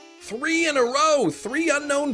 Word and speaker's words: Unown: to see you yeah that's how it says unknown emphasis on the known yeah that's how the the guide book says it's pronounced man the English